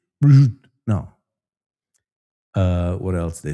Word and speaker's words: prosciutto: Prosciutto, no, prosciutto. Che is un babuino, una scimmia? Are you a monkey? They say prosciutto.